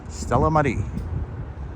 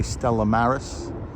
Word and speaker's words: Stella Maris: that beautiful sign guys Stella Mar or I I should say Stella Maris um I'm thinking of Paris I'm not pronouncing yes